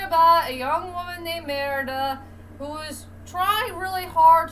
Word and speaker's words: Merida: I gotta pronounce this young lady's name is Mimeda, or Mara, the Scottish name. Yeah, okay, strike that, reverse it. It's a story about a young woman named Merida who is trying really hard to find a